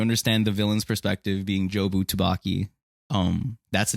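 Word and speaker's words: Jobu Tupaki: not just saying gibberish it's jobu tavaki or as michelle yo his character um says a lot just mispronounce it as chewbacca dubaka uh jerky shibuki it's a bunch of garbage so what i mean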